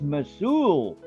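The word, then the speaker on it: Mousehole: oh yeah it's mouse hole but it's not pronounced mouseol it's mosul but it's mouse hole it's m-o-u-s-e h-o-l-e that's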